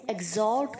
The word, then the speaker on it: exalt: इसे कैसे प्रोनाउंस करेंगे आप? ई के आगे जो एक्स है उसे जी की तरह प्रोनाउंस करेंगे, एग, जैसे आपने एग्जॉल्ट में किया था।